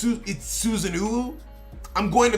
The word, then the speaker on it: Susanoo: Like, for instance, people are like, oh, it's not Susano. It's Susanoo.